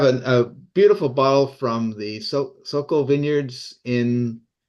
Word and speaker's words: Soquel: but I have a beautiful bottle from the soal Vineyards in soal region of so is that right am I saying it wrong Stephanie soel okay yeah okay sorry I was that's I